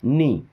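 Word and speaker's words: knee: जैसे हम लिखते हैं के एन डबल ई नी क्या पढ़ते हैं नी नी का मतलब घुटना होता है ना के एन O double नो नो है ना यहां पे भी के साइलेंट नो का मतलब जानना पता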